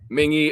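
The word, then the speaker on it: Mingua: that i also like mingy jerky mingy is it's spelled mingwa it's amazing and then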